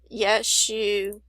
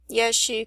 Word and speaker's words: Yeshu: This one has Yeshu and bride.